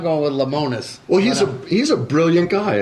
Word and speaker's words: Lemonis: You ever watch the show The Prophet with Marcus Lemonis? Yeah. He's... How do you say it? It's Lemonis.